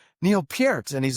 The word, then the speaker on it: Peart: That is how you say it, right? It isn't Pert. Peart.